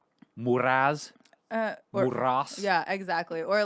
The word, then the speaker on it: Muras: And she's like, all the way from Newport Beach, Muras. I'm a bitch. It's Muras. Muras. Rhymes with the boss, bitch. Muras. No, yeah. So Gotta roll the R's though.